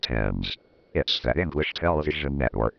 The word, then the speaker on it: Thames: star like Florina James what in the world is James that's pronounced Thames yes that English television